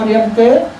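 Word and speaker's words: Reamker: So Riemke, in Khmer we call Riemke, it is the Khmer pronunciation.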